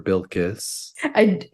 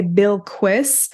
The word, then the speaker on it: Bilqis: Or Bilkis. It's a little hard for me to pronounce because every time I look at it, I want to say Bilquis.